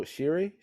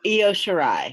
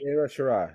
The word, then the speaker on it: Io Shirai: I watched the Tony Storm match versus Io Shiri. Shiri? Is that how you pronounce it? Oh, Io Shirai. Io Shirai.